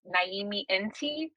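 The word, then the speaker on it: Nyame Nti: But my symbol is pronounced Naimi Nti, and it's actually the symbol of a stalk.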